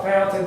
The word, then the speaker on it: Fontaine: So, first let's talk about how fountain fairy is pronounced. Fountain or fontain. Not certain how it got fontine. Yeah. Named f. Why we call it fountain when it's actually spelled Fontaine, but it is what it is.